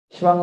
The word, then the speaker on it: 시방: 근데 이제 십방을 발음상 그냥 시방으로 이렇게 발음합니다.